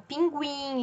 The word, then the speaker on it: pinguim: antigas antes de 2009 palavras aparecem muitas vezes escritas com trema como pinguim linguiça sagui hoje em dia nós não faz o escrevemos mais com a tema apesar de sabemos que a pronúncia continua de gwi então resumindo e recapitulando